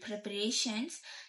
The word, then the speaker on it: preparations: The same thing happens with preparations. Like in standard English, it's preparations. Preparations. The shins is got stressed, like meaning to say that the last syllable is stressed.